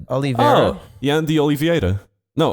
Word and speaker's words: Oliveira: I think it's Oliveira. Oh, Jan de Oliveira. No, Oliveira.